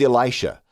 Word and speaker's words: Elisha: Well, the correct way to say it, biblically speaking, is Elisha.